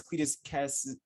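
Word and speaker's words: Cletus Kasady: And they brought in Shriek, which was Cletus Cassidy.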